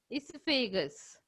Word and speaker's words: esophagus: Okay, next one is pharynx, then salivary glands, then esophagus. Esophagus, I am saying. See, O is silent in this spelling.